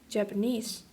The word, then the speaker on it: Japanese: than one unstressed syllable when we derive the word japanese from the word japan the primary stress shifts from the final syllable of japan onto the final syllable of japanese but it received the